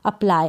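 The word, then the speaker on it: apply: अप्लाई, अप्लाई का मतलब है आवेदन करना, अप्लाई। अब इसको अगर पूरा पढ़ेंगे तो ये बनेगा अप्लाई, पूरा प प्रोनाउंस गलत होगा करना, तो अप्लाई पढ़ें इसको।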